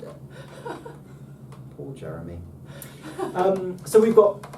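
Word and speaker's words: γ: It's most definitely not a Y. This is a G.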